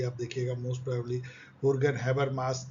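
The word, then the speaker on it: Habermas: हुर्गन हैबरमास, यस इसका pronunciation हॉ से होता है, हुर्गन हैबरमास, जो कि सेकेंड जनरेशन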